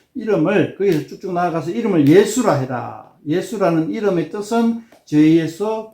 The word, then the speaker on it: 예수: 구원할 자이다 이런 뜻은 예수란 이름 뜻은 여호와께서 구원하신다 요런 뜻 자 예수라 하는 거는 이제 헬라의 예수 이거를 히브리어로 발음하면 여호수아 히브리어로 하면 수 헬라 발음하면 예수 이렇게 되고 영어로 발음하면 지저스 근데 이제 우리나라 말이 어